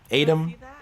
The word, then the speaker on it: Aitum: If you guys don't know about that plugin already in OBS, it's spelled AITUM, Atom.